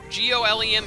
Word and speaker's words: Golem: down Golem it's pronounced Gollum apparently I learned in Tales of Xillia g-o-l-e-m is pronounced Gollum I always pronounced it